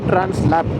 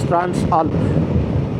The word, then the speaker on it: Transalp: So it's not Transalp, it's Transalp. You are going through the Alps.